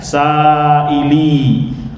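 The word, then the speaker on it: سائلي: Wahai orang yang bertanya kepadaku dari kata sailun diidofahkan kepada damir anak. Jadi bacanya saili, orang yang bertanya kepadaku.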